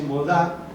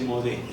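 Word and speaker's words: מודה: Bueno, en hebreo varía la pronunciación. Entonces la mujer dice modá, ¿sí? Y el hombre dice modé. Y Ani quiere decir yo.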